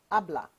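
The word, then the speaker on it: hable: someone to speak abah the H is silent repeat after me abbl speak ABA again abbl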